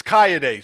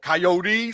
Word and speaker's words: Kayode: bad with name hey my name is kyay so you know what I was called coyote sometimes they wouldn't even